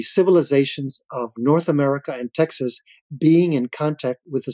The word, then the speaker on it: Texas: T-E-X-A-S, Texas. X is, when you read it in Spanish, as you know, it's pronounced like an H, so it's Texas.